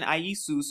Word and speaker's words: Iesus: see it comes from late Latin Iesus or properly pronounced as three syllables from the Greek isus